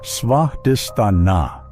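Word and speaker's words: Svadhisthana: It is called svadistana, pronounced svadistana, the dwelling place of the self.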